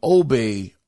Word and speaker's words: Obbe: out from a former GTA de developer named obey uh verage his name is spelled obbe his last name is spelled v